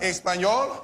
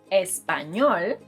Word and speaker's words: español: Say, estoy estudiando español, rather than español. I know, even Will Smith mispronounces the name of the language. Look. Toda la gente habla español. Todos. So remember, it's español rather than español.